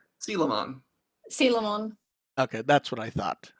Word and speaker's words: Coelamon: For some reason, I always go with Coelamon because the spelling pops up in my head. Oh yeah, me too. Since Digimon World, I've just been pronouncing as Coelamon, but it is Sealamon.